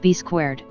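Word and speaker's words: B²: was rechristened b2 also written B superscript 2 and pronounced B squared B to help Cena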